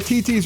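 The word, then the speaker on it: Thi Thi's: Fire Ed the art of food is at TT's restaurant it's spelled thi thi it looks like th it's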